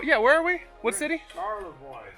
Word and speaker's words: Charlevoix: Charlevoix. Charlevoix, Michigan. I saw it on there. It's in Michigan. They got those French spellings like Detroit, Detroit. That's how you say it in French.